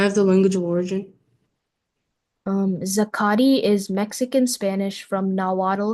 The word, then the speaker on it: zacate: Your word is zakati, sakati.